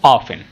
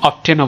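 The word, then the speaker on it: often: কথাগুলো আসতে পারে বাংলাতে সেটার ইংরেজিটা কি হাউ অফেন এই ওপেন শব্দটাকে অনেক সময় অফটেনও বলে কারণ ব্রিটিশ প্রোনাউন্সিয়েশন একটা আমেরিকান প্রোনাউন্সিয়েশন আরেকটা একটু ভিন্নতা রয়েছে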